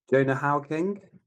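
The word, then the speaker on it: Hauer-King: I've got no idea how to pronounce his name. Jonah Hoya King. Ha. H A U R King. Jonah How King.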